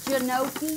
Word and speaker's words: gnocchi: Then some toasted gnocchi, and you could use Like gnocchi? Spell it. Oh, don't tell me how to spell it. G-N-O-C-I, but it's pronounced gnocchi. It starts with the G, right?